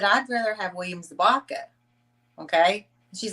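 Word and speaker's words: Zabka: How you pronounce his last name again? William what? Zabaka.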